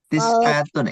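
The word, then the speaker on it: تسعة: Umriatun umriatan bukan tisah ustaz tisatun. Iya tisaah itu kan aslinya tisatun ya. Tisah. Iya aslinya tisatun. Karena kita bacanya wakaf jadinya tisah seperti itu. Bukan tisa ya. Bukan tisa fathah akhirnya bukan.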